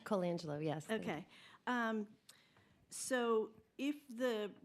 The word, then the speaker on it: Colangelo: Colangelo, am I pronouncing it correctly? Colangelo, yes.